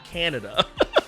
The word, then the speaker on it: Kaneda: But anyways, they redid it, and they did it with the actual proper pronunciations. So Kaneda's name became Canada.